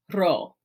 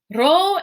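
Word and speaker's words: rho: Here we have ro. Ro is like our English R sound, hence the name.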